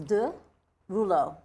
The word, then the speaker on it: de Rouleaux: think everyone gets confused in French e-a-u-x is O so if you ever see Eau or eaux it's the pronunciation is oh so it's de Rulo no and in fact